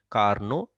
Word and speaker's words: Carnot: is that this is a Carnot refrigerator. T is silent, Carnot refrigerator.